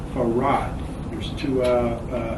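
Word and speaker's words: Farrad: in the 30s and spelling his name f-a-r-r-a-d the same way it's pronounced for rod f-a-r-r-a-d and even as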